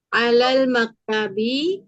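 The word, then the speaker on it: عَلَى الْمَكْتَبِ: Jangan diputus ya, disambung Bu. Alal, langsung alal. Alal maktabi Mm-mm. alal kursi. Lakana ahsan. Ya, itu lebih bagus ya.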